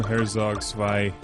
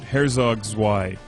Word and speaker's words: Herzog Zwei: HERZOG ZWEI. I'm going to Americanize it.